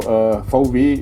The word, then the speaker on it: VW: So VW is how we are pronouncing the V and the W.